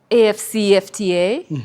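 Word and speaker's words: AfCFTA: You will correct me, but um AFCA.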